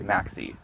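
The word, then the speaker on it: MaxSea: main fertilizer I use spell it m-a-x-c-e-a Maxi okay it's fabulous okay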